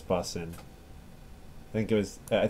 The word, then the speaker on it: boatswain: was triggering him that I was saying boatswain which is the way it's written but not the way it is pronounced I guess correctly what's my first